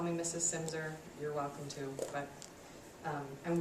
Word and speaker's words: Silmser: It's Silmser on the last name, if you care. It's spelled kind of strangely. Yeah, that L is silent.